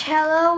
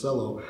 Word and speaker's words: cello: But the instrument, the origin of this family of violins, cello violin, the origin is from Italy in 16th, 17th century. And that's the reason why we still use the Italian pronunciation.